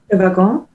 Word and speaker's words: Le Wagon: Celine, can you pronounce the name again of the coding bootcamp? Le Wagon.